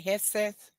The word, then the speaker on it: Hegseth: Hegseth.